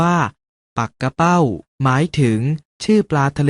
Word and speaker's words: ปักเป้า: เห็น อยู่ นี้ จึง แม้ จะ เขียน เหมือน ปักเป้า แต่ ออก เสียง ว่า ปัก กะ เป้า หมาย ถึง ชื่อ ปลา